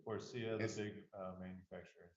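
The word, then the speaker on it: Faurecia: Forcia. Forcia, the It's- big manufacturer in Saline. How do you spell that?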